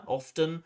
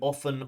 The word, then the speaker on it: often: I think the candidate pronounced often with a t often. And that's fine. There are two acceptable pronunciations of this word often or often. Both are okay.